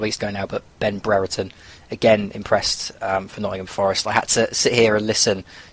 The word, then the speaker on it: Brereton: suddenly discovered that Ben Brereton was actually quite good as well, but he couldn't say his name properly. He kept dropping the first R in his name, and it was driving me mad.